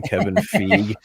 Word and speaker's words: Kevin Feige: I went every time I hear Paul pronounce Kevin Feige's name Kevin Feige and it's like dude that's like on